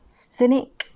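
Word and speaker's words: Scinic: which is a super mild Sun Essence by Scenic or cynic that's how you pronounce it cynic enjoy super mild Sun Essence so this is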